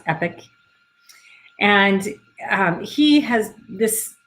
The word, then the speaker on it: Epoch: founder and ceo of epic lasers that's e-p-o-c-h but it's pronounced epic and um he has